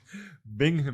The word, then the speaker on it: Binghamton: York here's what I oh man that was butchered you Butcher say it again what is it bingamon bingamon yeah I'm from cumland County New Jersey